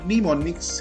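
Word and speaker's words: mnemonics: वैसे प्रस में बेटा वो ये है जी एम एन ई एम ओ एन आई सी एस लेकिन यहां प पहला एम जो है वो साइलेंट होता है इसकी प्रोनंसिएशन जो है वो निमोनिक्स है निमोनिक्स इंग्लिश ग्रामर में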